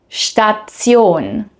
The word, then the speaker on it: Station: Station versus Station. Did you notice the difference? In English, -tion usually turns into a soft shin sound. In German, it stays much more literal, -tion.